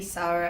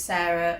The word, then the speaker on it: Sara: Hello, my name is Sarah. I am a support and development officer at Connected Voice. So, my mom named me Sara after her great-g grandandmother.